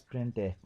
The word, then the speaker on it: printf: The function प्रिंट एफ is pronounce as प्रिंट एफ।